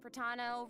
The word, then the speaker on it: Fratano: and hosting with me today we have Hey everyone, I'm Fratano, rhymes with Capitano, the Oh.